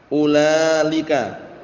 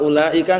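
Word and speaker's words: أُولَالِكَ: Jadi bacanya nanti ulalika. Paham ya? Enggak boleh kalau ulaika enggak boleh ulailika tapi kalau boleh ulalika.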